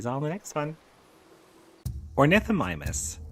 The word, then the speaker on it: Ornithomimus: Ornithomimus, pronounced Ornith Omimus, whose name means bird mimic, was